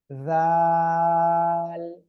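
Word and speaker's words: ذال: এ অক্ষরটা একটু মোটা আওয়াজে হবে, জিহ্বার আগা দুই দাঁতের আগার সঙ্গে লাগিয়ে উচ্চারণ হবে। র। তারপরে আমরা যে অক্ষরটা শিখেছিলাম সে অক্ষরটা হলো এ অক্ষরটা। জাল, জাল।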